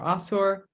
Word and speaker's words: Ashur: So they're all spelled the same way in Akkadian, and they would have all been pronounced the same way, either Ashur or Asur.